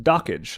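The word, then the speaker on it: Dockge: apparently is pronounced dockage.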